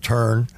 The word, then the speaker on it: Turin: Well, it was in the town of Turin, or as the Georgians pronounce it, Turn.